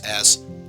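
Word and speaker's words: あ: You pronounce this as a.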